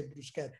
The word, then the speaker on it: bruschetta: By the way, you should say bruschetta, you know?